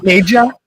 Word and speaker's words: Neja: Neja and Fico. Yeah. Nea. It's Nea. Nea, right? Yeah. Yeah, it's Nea.